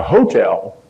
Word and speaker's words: hotel: If you ever find somebody who referred to it as the hotel, accent on the first syllable, they've really been around.